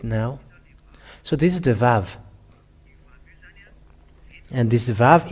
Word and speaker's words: Vav: And this Vav, it is pronounced as V. But it's people who change it into U and U. U and O, and it's later that it has been changed to O and U, but earlier it was not that.